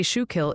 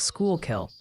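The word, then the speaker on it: Schuylkill: They say shoe kill is pronounced like school kill.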